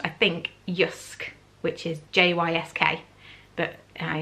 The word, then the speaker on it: JYSK: that I've discovered is it's pronounced I think usque which is JYSK but I am reliably informed that it's that it hisk I bought this concrete like parties got a